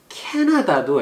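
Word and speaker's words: Canada: 그리고 아까 Vancouver도 액센트 주의하라 그랬는데 캐나다도 액센트가 이름절이에요. 캐나다. 주의하세요.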